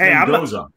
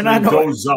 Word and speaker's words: Mendoza: Somebody in the chat, Michael Lima said pronounce Mendoza, I think it is, but yeah, it's Mendoza. It's Mendoza. Like we pronounce Mendoza. Yeah. That's how you pronounce Mateus's name.